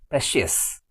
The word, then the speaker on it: precious: The stress is on CIOUS, precious.